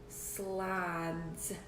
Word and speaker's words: slide: slip and slides slide so so far it says slid what do I need to put at the end of this word to make it say so I instead of slid a silent e that's right so there